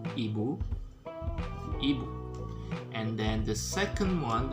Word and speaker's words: ibu: be you okay so the pronunciation would be ebu and then the second